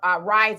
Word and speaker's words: Ryze: It is spelled Rise is RYZE. So it's Rise coffee.